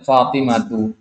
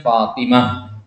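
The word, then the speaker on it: فاطمة: Nah, itu kan pakai tak marbuthah ya, Fatimatu. Tapi dibacanya Fatimah. Seolah-olah ada hak di belakangnya.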